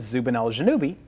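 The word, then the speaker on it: Zubenelgenubi: means Northern claw and the lower one is Zubin juubi the southern claw Zubin shamali puts out 270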